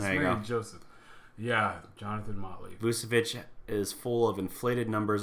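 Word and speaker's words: Vučević: Yeah, at the same price, if you say you can have either Vucevic, I said his name wrong, Vucevic, or Boogie Cousins, I'm taking Boogie Cousins.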